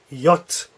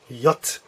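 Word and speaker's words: Jot: here is your yacht I'm not sure how to spell that so I'll put Y OTE to get the idea in yote yacht yacht this one here is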